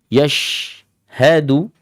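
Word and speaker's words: يشهده: di dalamnya yashhadu yashha Terus masuk pada huruf Dal yashhadu Dunya ini syiddah Dia kuat da-anya juga jahar da ya bukan tu tu yashhadu yashhadu ada ss-nya salah itu ya Enggak boleh meskipun kesalahannya khfi di dalam tetapi bukan sifatnya yashhadu atau yashhadu du bukan ujung lidah yang dominan adik-adik Ya seperti ada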